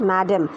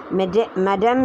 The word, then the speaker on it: madame: mme you got it's it's actually pronounced as madame madame in french and madame in english alcove is an area